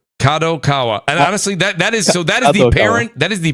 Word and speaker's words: Kadokawa: I'm going to say it wrong, but Kadokawa. Am I saying it right? Kadokawa. Kadokawa.